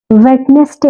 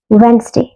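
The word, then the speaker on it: Wednesday: വെഡ്നെസ്ഡേ എന്നാണോ വായിക്കുക? അല്ല, ഇന്നിങ്ങനെയാ? വെൻസ്ഡേ.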